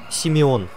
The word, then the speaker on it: Симеон: Зовут Симеон, правильно сказать. Но так как Симеон язык сломаешь произносить, то он у нас Сёма.